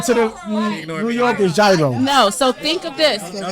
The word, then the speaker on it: gyro: you guys know gyro is not pronounced gyro? Yeah, it's gyro. Gyros. So just think of gyros.